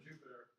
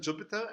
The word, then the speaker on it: Jupyter: I've heard both. Both. I think it's personal preference. Because this is written with a Y, not with the I. How would you pronounce it? I've heard Jupiter, probably more, but anyway, I'm no expert. I will use 50% Jupyter and 50% Jupyter. So I have a neutral.